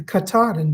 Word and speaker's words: Katahdin: there is a mountain up there called mount katahdin and he knew exactly how to pronounce it so now we know that it's the katahdin bag this is the pattern it's 24 this